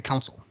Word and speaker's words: console: Console. There's a Chicago pronunciation of console that sounds a lot like council to everybody else. Yeah, I don't say console. I say council.